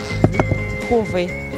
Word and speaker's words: Huawei: Huawei, мне кажется, как-то. Вам кажется Huawei? Да. Huawei. Huawei. Huawei. Huawei. Huawei. Huawei. Huawei. Huawei. Вариант. Вот правильный ответ. Huawei.